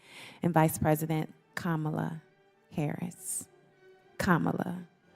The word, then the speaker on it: Kamala: vice president kamla Harris Kamala Kama like the pronunciation and I know that